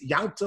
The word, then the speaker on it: Yalta: One of them is Yalta, or Yilta, depending on your pronunciation, the husband of Reb Nachman bar Yaakov, who is living in the middle of the 4th century.